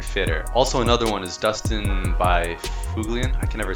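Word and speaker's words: Byfuglien: Also, another one is Dustin by Fuglian. I can never say his name. Dustin Bufflin, yeah.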